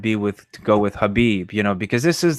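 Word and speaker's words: Khabib: the K word am i ignorant is it Habib now what's going on with that well it's pronounced Habib and it's funny you bring that up because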